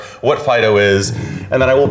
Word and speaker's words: FD.io: Typically FD.IO will be pronounced as FIDO because we're cutesy like that.